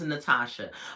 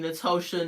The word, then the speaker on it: Natosha: the time sidebar y'all my name is Natasha but it's spelled n a t o sh you would not believe how many people call me natosha uh n whatever they trying to do with that o I'm like calm down